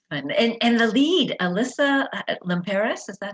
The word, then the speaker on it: Alyssa Limperis: that's fun that's fun and and the lead alyssa limperis is that how you say her name mm-hmm